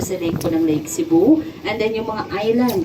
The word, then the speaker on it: Sebu: Yes, yung S-E-B-U po, yung tamang pagbigkas po nun ay Cebu. Cebu. Everybody say Cebu.